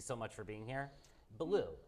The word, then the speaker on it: Ballou: Ballou, is that how you pronounce it? Ballou, that's exactly right, like Cat Ballou in the movie.